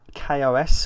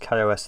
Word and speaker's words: KaOS: taking a look at Kos or chaos I think it's pronounced Kos gnosis the first time